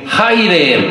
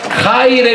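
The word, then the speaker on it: χαῖρε: Se dice en griego: Haire, Miriam. ¿Cómo se dice? Nombre, des un aplauso. Muy bien. Me apantallan. Haire, Miriam.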